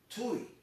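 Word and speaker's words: Tiw: odin's son is called tui that'll be t-i-w that's the way we would spell it in english but you know it's pronounced tui um that's where we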